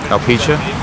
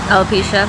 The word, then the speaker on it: alopecia: have uh how do you say it um alpecha alopecia yeah i can never say it right so